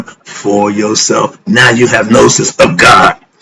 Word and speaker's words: gnosis: know here we go that is to have nosis it's spelled g n o s i s the G is solid I'm with cat why